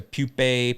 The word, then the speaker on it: pupa: it from larva to pupae pupa pupa pupa i like that word pupa pupa but uh took